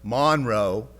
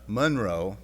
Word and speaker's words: Monroe: Newton grew up in Monroe, Louisiana, one of the places I lived when I was a kid. I don't know why it's pronounced Monroe, not Monroe, but that's the way it is in Louisiana.